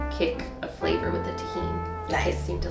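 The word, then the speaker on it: Tajín: really enjoy this on fruit how do you pronounce this tahen okay and what is tahen it is chili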